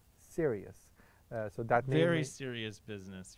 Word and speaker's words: Sirius: night sky is called Sirius. So that very serious business you're talking about. Very serious. So it is not the serious, the word serious, you know, it is pronounced differently.